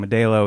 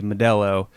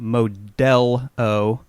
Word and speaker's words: Modelo: and it's Melo Modelo what's the proper way to pronounce that and um I guess the answer I'd been saying medo is probably Modello so I just want